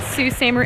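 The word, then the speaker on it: Sault Ste. Marie: i keep that so our first stop is in sue samer how do you spell that i don't think it's spelled no it's s-t s-a-u-l-t s-a-u-l-t it's like french so that's our first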